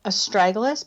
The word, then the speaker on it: astragalus: over 2,000 years and I'm gonna spell it out because most people haven't heard of a struggle is a STR AG ALUs astragalus okay and then the